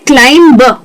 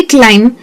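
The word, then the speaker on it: climb: तो ज्यादातर लोग उसे कहते हैं क्लाइम ब। जो ब है ना वो एक्चुअल में सुनाई नहीं देना चाहिए। तो इसे कहना चाहिए क्लाइम क्रम कोम टम म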